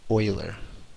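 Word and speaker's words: Euler: Um, so we read that like Oiler, the Edmonton Oilers. Um, because he was Swiss, you don't pronounce things the same way.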